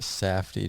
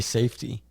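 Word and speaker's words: Safdie: __ ] is a safy just say safety just say it right safy it's Jewish oh safy Brothers Goa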